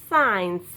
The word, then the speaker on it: science: No, I do not pronounce the C. C will be silent. I pronounce this word is science.